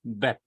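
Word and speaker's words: בּ: Its pronunciation is soft, but when we put dot, it becomes hard. It is Beth.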